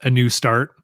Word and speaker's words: ANUSTART: Cerebral Brewing in Denver has a beer called A New Start, and it's spelled ANUSTART. It's a new start.